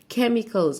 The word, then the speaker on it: chemicals: كلمة مواد كيميائية السي اتش بننطقها تش بس هنا هننطقها ك يبقى chemicals.